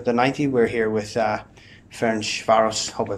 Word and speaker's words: Ferencváros: We're here with Ferencvaros, hope I pronounced that correctly, Ferencvaros, yeah.